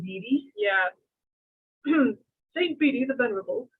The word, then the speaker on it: Bede: Bede?